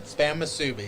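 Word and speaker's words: Spam musubi: Spam Masubi.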